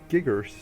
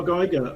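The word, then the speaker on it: Giger: Giggers or Of course. Yeah. H.R. Geiger. Oh Geiger. Sorry, I could not pronounce it.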